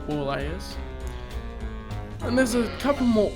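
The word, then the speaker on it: Borleias: the planet boreless b-o-r-l-e-i-a-s think it's pronounced poor layers and there's a couple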